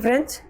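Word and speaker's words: French: seat पे जाओ little फ्रेंच मेरे छोटे फ्रेंड्स देखो ये स्पेलिंग ये ध्यान रखना फ्रेंच की अलग थी ये फ्रेंच कई लोग फ्रांस पढ़ते हैं इसको वी वर बिगिनिंग विदाउट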